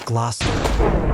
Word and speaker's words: Gloucester: Worcester becomes Wooster, Gloucester becomes Glosster, Leicester becomes Lester, Salisbury becomes Salisbury.